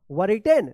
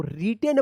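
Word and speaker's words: written: I double T ई एन क्या पढ़ेंगे इसको वर रिटेन नहीं इसको रिटेन पढ़ा जाता है डब्ल्यू जो है ना यहां पे साइलेंट रहता है क्या है साइलेंट वर्ड है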